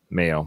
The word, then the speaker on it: Mayo: clinic one of these I don't know how it's pronounced male or mile Mayo like mayonnaise so he's at the